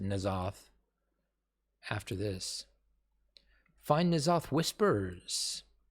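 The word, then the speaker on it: N'Zoth: They pronounce it Nazoth after this.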